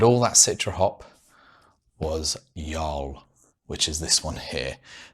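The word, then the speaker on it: Jarl: that citra hop was yol which is this one here now pronunciation wise i know some people may call it joel but i believe it is actually yol and i will get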